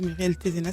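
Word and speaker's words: Thézenas: Et Muriel Tézenas, ça s'écrit T-H-E-Z-E-N-A-S, fondatrice du réseau Femmes Inspirantes et de Gétro Consulting.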